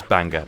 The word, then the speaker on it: Bangor: small Welsh town called Bangor and Bangor or whatever they pronounce it it's Banga and the jokes of